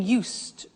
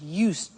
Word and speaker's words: used: So, I'm getting used to speaking Italian every day. Listen to the pronunciation. I said used with a T sound. Used, not used or used. Used.